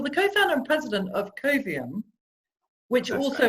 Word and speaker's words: Coviam: Well, you're the co-founder and president of Coviam, which That's also right.